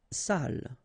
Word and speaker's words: salle: Salle. Une salle. Okay, so even if you get the double L here, it will be still the same pronunciation as this one. So salle, une salle.